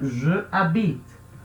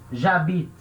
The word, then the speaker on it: j'habite: Então a palavra que termina com vogal, ela vai perder a vogal. Então certo eu escrever e falar j'habite. J'habite. Então a gente lê como uma coisa só, uma palavra só.